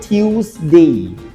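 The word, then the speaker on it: Tuesday: টুইসডেও না আর টুইসডেও না হবে টিউসডে।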